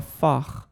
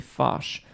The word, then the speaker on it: Fach: be like Bach or should it be Fache I've always heard Fache before because my voice might